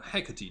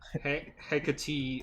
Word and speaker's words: Hecate: You, I believe, will be Hecate.